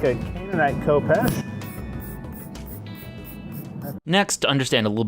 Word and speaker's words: Khopesh: So the Khopesh, in certain circles, is pronounced as Chepesh.